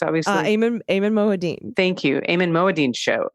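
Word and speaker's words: Ayman Mohyeldin: Eamon Moadine.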